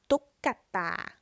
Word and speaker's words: ตุ๊กตา: has an extra sound so the first syllable is ตุ๊ก and then we add an extra sound กะ and then ตา again this is something